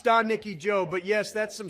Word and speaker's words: Stanicki: Still though, I saw Ricky Stanicki the other day and it was all right.